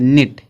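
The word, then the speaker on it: knit: एन आया है, तो जो यह के है इसका उच्चारण नहीं किया जाएगा, सिर्फ एन पढ़ेंगे, निट। ठीक है, नीट हो जाएगा।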